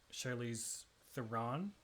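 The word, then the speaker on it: Charlize Theron: me because you you you guys say Charlies Theron and Americans say it the Charize Theren something like that.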